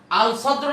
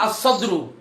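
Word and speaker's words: الصَّدْر: সদর সদর এখন আল সদর না আস সদর আসদ আসদ্রু এলাম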